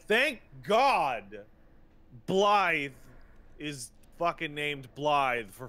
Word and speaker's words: Blythe: It is, in fact, because it's using a lot of Gaelic lettering. And I did get a message. The same as you would write B-L-Y-T-H-E. Blythe.